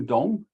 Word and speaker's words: Dong: So this is Master Dong. I hate the way his name is romanized in Wade Giles. Okay, but in Pinyin his name would be Dong Jingchang.